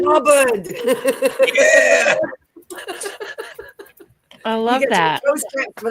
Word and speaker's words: Hubbard: Blubbered rhymes with Hubbard.